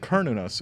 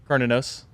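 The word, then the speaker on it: Cernunnos: You said Kernunos. Let's go around. How do you say it? Carninos. I say CERN. Okay, cool. Yeah, This yeah. couch is right. Nice. It's not. it's a hard C.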